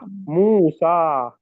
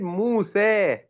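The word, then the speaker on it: موسى: Sa, mu, sa. Now there is a difference in opinion about the pronunciation of this alif maqsurah. Okay. Some qaris have recited it Musa, others have recited it Muse.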